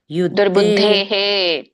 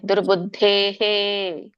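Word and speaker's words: ದುರ್ಬುದ್ಧೇಃ: ಸಮಾಗತಹ ದಾತರಾಷ್ಟ್ರಸ್ಯ ದುರ್ಬುದ್ಧೆ ದುರ್ಬುದ್ಧೇಹೆ ದುರ್ಬುದ್ಧೇಹೆ ಮುಂದೆ ವಿಸರ್ಗ ಇದ್ದಾಗ ಹಿಂದಿನ ಒಂದು ಪದದ ಸ್ವರ ಏನಿರುತ್ತೋ ಅದೇ ರೀತಿಯಾಗಿ ವಿಸರ್ಗದ ಉಚ್ಚಾರಣೆ ಇರುತ್ತೆ ಹಿಂದಿನ ಪದದ ಸ್ವರ ಏನಿದೆ ಎ ಇದೆ ಸೋ ಹಾಗಾಗಿ ವಿಸರ್ಗ ಕೂಡ ಹೇ ಅಂತ ಬರುತ್ತೆ ದುರ್ಬುದ್ಧೇಹೆ ದುರ್ಪುತ್ತೇಹೆ ಯುದ್ದೆ ಪ್ರಿಯ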